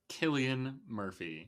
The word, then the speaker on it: Cillian Murphy: yeah, Cillian Murphy.